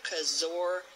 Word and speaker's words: Kaczor: please go to Laura cos or dot-com of Elizabeth's mom no it's dot org I'm so sorry Laura cos or is spelled ka czo are but you already know